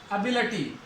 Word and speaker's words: ability: क्योंकि जिस शब्द के अंत में ITY आता है ना, उसको अटी पढ़ते हैं, ITY वाले को क्या पढ़ेंगे, अटी। जैसे ये वर्ड आ गया ABILITY, ITY आ गया, इसको अटी पढ़ना है, एबिलिटी, एबिलिटी नहीं, लिटी नहीं, अटी।